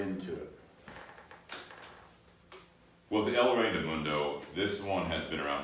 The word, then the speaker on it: El Rey del Mundo: Yeah, but with this cigar, the El Rey del Mundo, or am I saying that right? El Rey del Mundo.